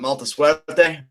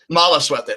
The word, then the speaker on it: Mala Suerte: And then Saltador and, what was it, Malta Suerte? I think is how you pronounce his name. Mala Suerte. I think the Lucha Underground Instagram had a typo because Mala Suerte actually means bad luck, and I have no